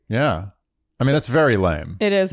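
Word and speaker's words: lamé: you say that because there is a fabric called lame and it's spelled l-a-m-e accented are you serious yeah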